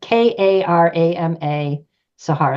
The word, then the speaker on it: Karama Sahara: So you can find it if you go to the website, just Karama Sahara. It rhymes with Sahara, Okay.